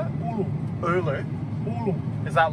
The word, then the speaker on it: ulu: There's an Ulu tree. What's it? How do you say it? Ulu.